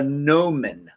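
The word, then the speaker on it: gnomon: rover and this is basically called a gnomen like spelled like a garden gnome this was basically a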